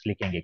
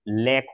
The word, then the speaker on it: lakh: अब यहाँ पे एक करेक्शन है सुजाता, 3000 लिखेंगे क्योंकि ये प्लूरल होता है ना।